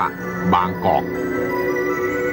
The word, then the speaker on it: บางกอก: โบราณ ว่า บาง เกาะ ภาย หลัง จึง ออก เสียง เพี้ยน ไป ตาม เสียง ฝรั่ง ที่ เข้า มา ใน สมัย นั้น ว่า บางกอก มี ได้ มี ที่